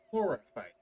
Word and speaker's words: Chlorophyte: Also, by the way, it's pronounced chlorophyte. Chlorophyte. Yeah, like chlorophyll, which is a type of cell.